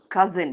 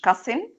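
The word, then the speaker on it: cousin: اهو اللي هو مشغول الاس هنا بتتنطق ذا بزي زي زي ابن العم كزن مش كسن كزن زي سحرا ديزرت يبقى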